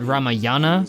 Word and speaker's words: Ramayana: To conquer and dominate the whole because the title is spelled Ramayana, but I believe it's pronounced Ramayan because, you know.